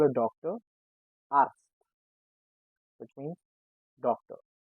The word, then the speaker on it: Arzt: Arzt, which means doctor. It has Z, but we pronounce it with S.